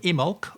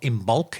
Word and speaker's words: Imbolc: And going even further ahead to next February, when it is the next celebration of Imbolc, or Imbolc if you like to pronounce the B in it.